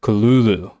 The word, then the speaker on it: Cthulhu: I didn't know is that is not how you actually truly pronounce his name okay uh true the correct pronunciation written from Lovecraft himself is kululu is there a t